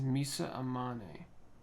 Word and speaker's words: Amane: amane right amane amane I'm gonna check real quick make sure I'm saying that right I think it is Misa amane yeah it's pronounced Nisa amane so it's she has